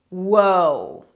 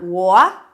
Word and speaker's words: whoa: And this one is whoa. Whoa, whoa, whoa, hold up, I don't think so. Different pronunciation. Can you hear? It's not wha.